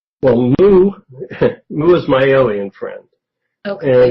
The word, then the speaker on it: Mou: Okay, in the book you asked, I'm going to hopefully pronounce this right, Mou, M-O-U? Or Moo? Moo.